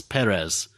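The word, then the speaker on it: Pérez: It's Perez. The accent's on the first syllable, not the second.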